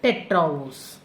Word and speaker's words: tetraose: We call this as tetraose. Therefore, when you pronounce it together, tetraose.